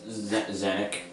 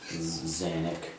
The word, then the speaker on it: Zanuck: It's Zanuck. Oh gosh, how do you spell that? Zanuck. It's like Xanax.